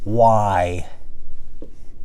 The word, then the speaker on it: why: And like I say, some people say it like this. Why, with a sound in front of it.